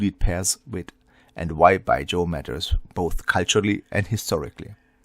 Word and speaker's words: Baijiu: pronounce it correctly because it's like by and with a J. So, by and then if you add the yo at the end by Joe. So, by Joe.